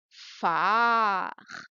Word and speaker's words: phare: Attention maintenant, à chaque fois que tu vas voir le P et le H ensemble, tu vas prononcer comme la fusée. PH, ça se prononce. Allez-y. PH, c'est-à-dire plus AR, ça fait quoi?